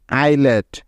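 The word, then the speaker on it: islet: এরপরে এল আছে তাই এস বর্ণটি এখানে সাইলেন্ট আছে বা উচ্চারণ হচ্ছে না বোঝা গেল এবার চলো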